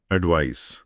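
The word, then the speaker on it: advice: ये स की ध्वनि के साथ खत्म होता है। एडवाइस। एडवाइस इसका मतलब है एन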